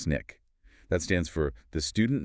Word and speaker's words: SNCC: So, first you have SNCC, spelled SNCC, usually pronounced SNICK.